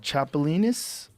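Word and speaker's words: chapulín: you cook it up they call it uh chapolin that's how you say it I would do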